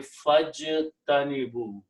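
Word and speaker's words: فَاجْتَنِبُوا: Fa means so, and when you read together, you do not pronounce this alif, you combine fajtanibu, this becomes hamzatul wasl,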